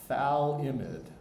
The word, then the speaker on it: phthalimide: molecule, which is called phthalimide. The pH is sort of silent. I'm not sure if you're supposed to pronounce the F and the TH sounds at once. Good luck with that.